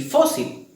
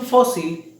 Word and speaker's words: fósil: Contrario a la palabra azúcar y fósil, que de igual forma tienen la mayor fuerza de voz en la penúltima sílaba, pero estas sí terminan en una letra que nos permite la regla tildar, que es cualquiera diferente a N, a S o a vocal.